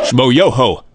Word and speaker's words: Smoyoho: Smoyoho. Accent on the yo.